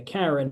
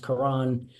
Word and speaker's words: Karen: boots was fighting a Karen his name is pronounced Karan uh in Ukraine so uh Karan shazi and